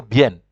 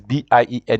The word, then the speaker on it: bien: say beer but in in Spanish like I said you pronounce what you see you have to say bien this b-i-e-n you say bien so bien is fine